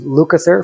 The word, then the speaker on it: Lukather: this one were Steve lukather ah Steve lukather um which they spelled his name wrong his his name is spelled as Steve Luther but it's Steve lucaser from Toto um and Steve Porcaro